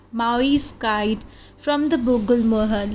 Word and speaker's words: Maui: So how do we have to pronounce Maui is Maui, okay?